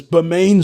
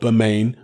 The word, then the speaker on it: Bermane: uh steven's name it's bermane steven not burma steven well yeah it's spelt bermane but berman steven himself says it's pronounced berman so hey don't argue